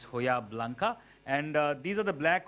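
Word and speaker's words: Hojiblanca: going to use the hojab olives which is pronounced as hoya blanca okay um it is hoja in spain the j has gone home is silent so it's hoya blanca and these are the black olives then i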